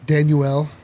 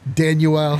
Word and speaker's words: Danuel: away on Philly's bench danuel yeah I think that's actually how it is pronounced danuel house uh former nugget